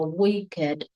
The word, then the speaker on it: wicked: Còn nếu muốn đọc từ wicked thì đọc là we và kệt luôn, chứ không có phải là weak.